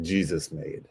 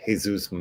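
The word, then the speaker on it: Jesús Made: M or made uh looks like Jesus made but that is not the appropriate pronunciation so I believe it's Jesus M I think I called him Jesus made when I first brought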